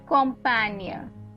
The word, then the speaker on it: Campagne: The GNE is where I'm pronouncing the near, right? Allemagne is nothing but Germany, right? Next one is Campagne.